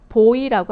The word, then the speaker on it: boy: 그래서 코인이라고 알고 있었지만 코인이 아니라 어떻게 발음하셔야 돼요? coin이라고 하셔야 되겠고요. boy라고 알고 있었던 것이 어떻게 돼야 됩니까?